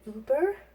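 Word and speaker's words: Über: It's called Uber. It's spelled U-B-E-R, and the U has two little dots on top, German spelling, and it is wonderful stuff.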